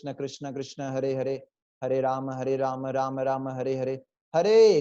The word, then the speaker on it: राम: Neck straight, proper posture, remember posture is very important. Second thing is pronunciation, रामा नहीं है, राम नहीं है, राम राम राम, कृष्ण कृष्ण कृष्ण, कृष्णा नहीं है, कृष्ण और राम।